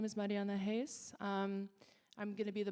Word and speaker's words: Reis: And this panel will be moderated by Marianna Reis. I've mispronounced that, Reis.